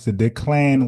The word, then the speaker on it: Declan: Declan was the right uh way to say his name.